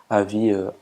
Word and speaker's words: AVI: Windows c'est film avis donc comme ça se prononce film avis AVI donc vous choissz votre format et vous